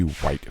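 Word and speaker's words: Wight: There's a single massive dungeon structure that is central to progression in this mod, and it's called the White Fortress, and that's spelled W-I-G-H-T, and this contains one of the mod's bosses.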